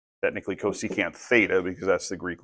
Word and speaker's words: cosecant: said we've got some cousins here this is pronounced cosecant technically cosecant Theta because that's the Greek letter that we're